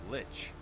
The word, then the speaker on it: lich: do I pronounce this monster name? Lich.